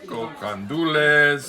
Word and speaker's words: gandules: like you never taste before right AR gandules gandules with ribs with ribs and this is yep